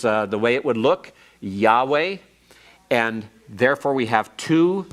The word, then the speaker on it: Yahweh: with the real name, Yahweh. It has to do with this form. Your schwa here, and your holum here, and your comets here are for Adonai. Don't ever pronounce Yahweh as Yehovah or Jehovah.